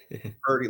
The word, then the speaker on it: Purdy: uh is his name Purity how do you say it Puri party party like yeah pretty like it's very pretty all right so I'm